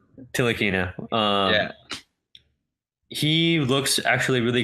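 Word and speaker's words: Ntilikina: I believe OKC lukina the N is silent till akina yeah he looks actually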